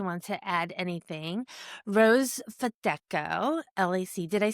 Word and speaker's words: Fedechko: So Fedechko. So everything is sounded out like it's spelled.